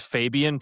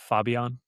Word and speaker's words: Fabian: So I've never thought of it as Fabian, isn't it? Yeah. It's like Fabio with an N.